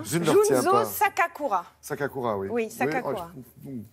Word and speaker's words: Junzô Sakakura: Junzo Sakakura.